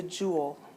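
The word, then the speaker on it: joule: a j um and it's a French word it's pronounced Jewel like just like you would have a jewel on a crown or something um and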